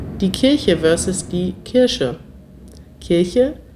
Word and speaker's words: Kirche: Zoe Welsh fragt, wie ausgesprochen die Kirche versus die Kirsche? Kirche, Kirsche, Kirche, Kirsche.